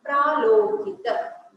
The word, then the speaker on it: Pralokita: I'm sorry, I pronounced it wrongly in the beginning. Pralokita.